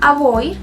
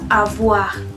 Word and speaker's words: avoir: Y otro caso que vimos hoy es la O y la I, que suenan como wa. Si se acuerdan del verbo avoir, yo no decía avoir, sino avoir, porque la O y